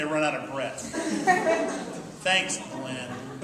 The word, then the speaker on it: Glen: out of breath thanks Glenn which is a one syllable which is a one-syllable name but I do have